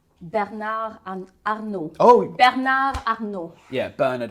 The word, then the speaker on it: Bernard Arnault: Bernard Arnault.